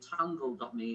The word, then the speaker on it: Tungle: It's a free service called tungle.me. It rhymes with jungle. If you think of the word jungle and replace the j with a t. You get tungle.